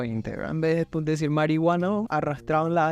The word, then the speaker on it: marihuana: marihuana, marihuana con J, corresponde a una pronunciación aspirada de la H, que con intención festiva empleaban los chicanos a principios del siglo XX. En vez de decir marihuana, arrastraban la H y formaban una especie de J.